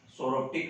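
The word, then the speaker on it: psoroptic: सोरोप्टिक मेंज, इसके अंदर पी जो है साइलेंट रहेगा, इसलिए सोरोप्टिक मेंज ही कहा जाता है। इसकी स्पेलिंग तो पी से स्टार्ट होती है, लेकिन अपन बोलते क्या है इसको, सोरोप्टिक मेंज।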